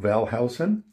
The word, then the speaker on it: Wellhausen: We pronounce it Wellhausen.